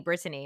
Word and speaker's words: Britany: technically and in fact my family says every syllable so they call me Britany and I used to